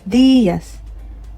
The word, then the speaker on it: días: Buenos días. Not buenos días or buenos días. Okay? Días. Because there's an accent on the I.